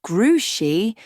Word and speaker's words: Grouchy: Why is he called Grouchy? Because that's his name, said Mrs. Zimmerman. Only it's pronounced Grushi because it's a French name.